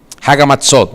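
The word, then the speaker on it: Chag HaMatzot: Luego al siguiente día inicia la fiesta, lo voy a decir como se lee, del Hag Hamatzak, pero saben que en hebreo es Hagamatzot, se pronuncia distinto de cómo se escribe.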